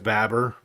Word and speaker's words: Babar: Babar and only that he's just pronounced Babber. Babber Babar say it.